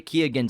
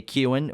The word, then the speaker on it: Keoghan: So he pronounces it with Keoghan. He even says, I may have been pronouncing it wrong my entire life, but the G is in there. So that's how Barry Keoghan says his name, even though the rest of